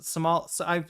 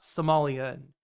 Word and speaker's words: Somali: um the the Somal if you're from Somalia, you're Som Somali. You're not Somalian. Uh is the Somali is the right way to say it.